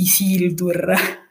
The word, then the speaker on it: Isildur: è neanche riguardante l'argomento riguarda semplicemente il nome del personaggio che noi siamo abituati a pronunciare i siti perché così lo sentiamo pronunciare nella versione italiana il film però in realtà l'accento dovrebbe cadere sulla seconda e quindi dovrebbe dirsi isili tour in realtà ma non